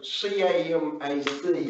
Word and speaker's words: CAMAC: And so CAMAC is CAMAC is the way I'm pronouncing it.